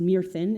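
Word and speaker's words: Myrddin: know as merlin um it's spelled m-y-r-d-d-i-n which is uh pronounced mere thin in old welsh which is the language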